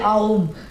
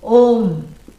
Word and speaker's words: Om: then people will say Aum. Nobody should say Aum. Yeah, that's wrong. You should never come in between the words which are joining to make a new syllable. A plus U, O, Om.